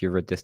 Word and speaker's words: Eurydice: I'm not sure if I'm Dice? mispronouncing. Dice. No, it's pronounced Eurydice.